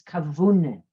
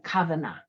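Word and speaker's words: כוונה: Wenn sie tut lichten zinden Shabbos und Yom Tov und mit in the Yiddish pronunciation is kavune, with kavana.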